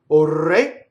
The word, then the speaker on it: ore: Ore. Now, in this case, the word O is a strong monosyllable, so the R will roll, even though it's surrounded by vowels, right?